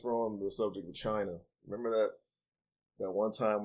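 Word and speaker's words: 辰: Dragon is associated with the Earthly Branch symbol pronounced chin it has been proposed by one academic researcher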